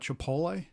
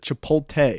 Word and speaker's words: chipotle: do you call that are we talking about chipotle okay there you go you said it right no so you said it right this time but i do my mom religiously calls it chipote yeah i do too